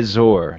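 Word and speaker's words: Trezor: I haven heard Tre treasure Tresor tell me about that well spelled it's spelled like he's saying t z r but we're pronouncing it like treasure but it's a it's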